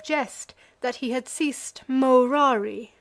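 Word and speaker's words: morari: that he had ceased murari amongst men pronouncing the first syllable long and treated as null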